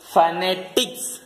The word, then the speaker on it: phonetics: இது எப்படி முதல்ல உச்சரிக்கணும்? ஃப ஃப நே டிக்ஸ் phonetics. இதை பெரும்பாலும் எப்படி உச்சரிப்பாங்கன்னா phonetics அப்படின்னு உச்சரிப்பாங்க. அது வந்து தப்பான உச்சரிப்பு. ஓகேவா? எப்படி உச்சரிக்க கூடாது? phonetics னு உச்சரிக்க கூடாது.